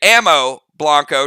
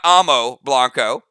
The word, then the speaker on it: Ammo Blanco: 4, I'm going to say it right today, Ammo Blanco, not Amo Blanco.